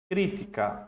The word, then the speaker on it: crítica: Por exemplo ele critica é diferente de a crítica Olha a diferença a crítica a a a sílaba forte é o Ti crítica não desculpa